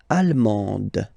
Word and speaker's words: allemande: L'Allemagne, allemand, allemande, okay, same thing here. Okay, you don't pronounce the final D, but then you pronounce it here for the feminine form. Allemande, okay?